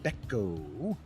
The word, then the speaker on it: Bechko: I'm here with Corinna Bechko. Rhymes with gecko.